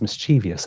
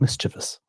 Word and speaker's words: mischievous: For the longest time I thought it was mischievous and not mischievous.